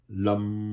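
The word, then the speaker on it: लं: का उच्चारण करना है लम इसमें आपके होठ मिले हुए दांत नहीं मिलने चाहिए गूंज पूरी गूंज पैदा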